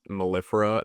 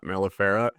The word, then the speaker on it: Mellifera: I think like Maleficent. That's what I'm pronouncing it as, like Mellifera, like Maleficent. Yeah, I thought I read